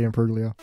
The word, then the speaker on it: Imbruglia: bread myself bread to yourself unleavened seven it's pronounced in Perugia Natalie Imbruglia well and then writing back out again a